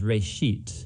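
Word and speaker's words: בראשית: Genesis Genesis comes from a Hebrew word it's pronounced rate sheet and it just means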